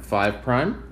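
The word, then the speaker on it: 5′: they're pronounced 1 prime that little apostrophe after that is pronounced prime 1 prime 2 prime three prime four prime five prime and we say that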